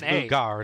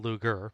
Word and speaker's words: Luger: Pronounced as Lugar, not Luger.